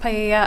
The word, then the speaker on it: paella: It's pronounced paella.